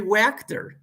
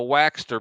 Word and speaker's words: Wachter: me who it was it's henry wachter wachter i used to call him the waxter because i couldn't pronounce his last name you're absolutely correct henry